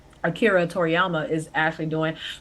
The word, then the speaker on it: Akira Toriyama: series God damn it that akiri Akira Toriyama I'm not trying to mispronounce his name I actually know how to say his name Akira Toriyama is actually doing called